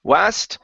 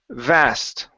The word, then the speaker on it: vast: v sound right here instead of West it's V vast vast good a vast inheritance